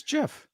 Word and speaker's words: GIF: Is it GIF or Jif? I thought it was Jif. It's Jif. Jif. Okay, I think you said GIF with a hard G.